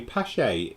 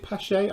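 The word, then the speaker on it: Paasche: good model shops yes apparently posh a is made is it push a I've always pronounced it is posh a but might not be is made in Wisconsin USA well Paul put's it pronounces it posh a so if he pronounces it like that I would pronounce it like that as well no but you probably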